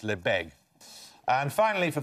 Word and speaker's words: Lebesgue: Yes, that's how it's spelled. It's normally pronounced Lebesgue.